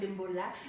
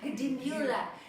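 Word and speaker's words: Dimbulah: And in, how do you say it? Dimbula. Not Dimbula. Dimbula. And yeah, it's been a really amazing day.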